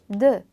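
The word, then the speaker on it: deux: 근데 벌리지 마시고 입을 동그랗게 오므려 주신 상태로, 그렇게 고정한 상태로 되라는 소리를 내주시면 됩니다. 자, 그럼 발음이 어떻게 되냐면 드 이런 발음이 되거든요. 그러니까 숫자 2는 드 이렇게 발음해 주세요.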